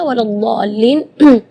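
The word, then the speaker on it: وَلَا الضَّالِّينَ: Di kalimat ini juga waladhdallin yang perlu diperhatikan adalah madnya juga. Mad di situ kita harus panjang membacanya 6 harakat karena di situ hukumnya mad lazim kalimi mutsaqqal, jadi membacanya waladhdallin 6 harakat. Terus setelah waladhdallin di situ ada huruf lam yang ada di atasnya ada tasydid. Itu seringkali ketinggalan waladhdallin.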